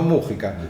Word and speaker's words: Mujica: de Manuel Mujica lainez no Mujica Mujica porque no lleva tilde Mujica lainez y que